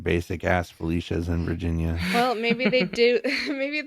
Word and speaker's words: Felicia: my name is that people always assume that it's pronounced in a fancy way because it sounds like it should be I guess but like every time I was at like a new class in college and they would take role it would be like Felicia it's just Felicia well that's like Alicia Silverstone she said it's pronounced